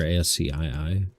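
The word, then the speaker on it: ASCII: Ask key is how that's pronounced.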